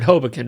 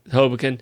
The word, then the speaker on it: Hoboken: New York City over hobokin right and uh hobo Ken I'll try and slow down um just got to just got a um accent a different syllable okay that's all all